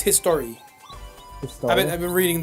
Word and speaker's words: Historia: in attacking titan historia she's history i believe it's just pronounced history no i'm saying that he's